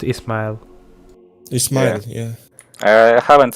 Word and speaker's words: Ismail: Like in English, I guess it's Ishmael because you have this. Yeah, probably. sh- But fuck it. Oh, fuck. Oh, yeah, I mean, we pronounce it Ismail.